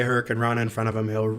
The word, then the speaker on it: hurricanrana: How do you say hurricanrama? Hurricanrana. Thank you.